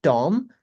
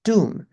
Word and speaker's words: tomb: It's not tom. It's tomb. This word is calm.